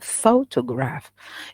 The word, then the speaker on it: photograph: to accentuate it okay photograph it has three syllable and the stress is on the first syllable that is you need